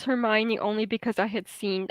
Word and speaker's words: Hermione: i read harry potter i thought of hermione i thought it was her moan i thought her name